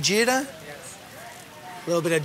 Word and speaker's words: jeera: Am I saying it right, jeera?